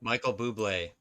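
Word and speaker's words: Bublé: Uh, Michael, I don't know how to pronounce that. Michael Bubé.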